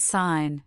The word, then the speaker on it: sign: as in though, or it can be completely silent itself when it appears before an N at the beginning or end of a word. In that, na and sign, the G simply disappears from pronunciation. This silent G is a relic of our Germanic linguistic past.